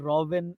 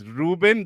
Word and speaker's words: Ruben: Oh, Ruben says, by the way, my name has been mispronounced as Robin a lot.